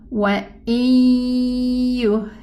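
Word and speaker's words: وَإِن يُهْلِكُونَ: These four letters, when we pronounce them, regarding the Noon Sukun and the merging of the Noon Sukun, there will be a ghunna. Okay, so let's pronounce it. We're gonna say wa yuhlikuna again. And listen, is there any trace of the noon? Wa yuhlikuna. Yes. The trace of the noon is the ghunna.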